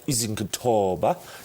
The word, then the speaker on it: Izokuthoba: It's an incredible campaign, and we've got Izokuthoba is how you pronounce it.